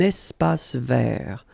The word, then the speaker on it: espace vert: First thing, you've got this little link between the two. Un espace vert. Final not pronounced, and then final T not pronounced.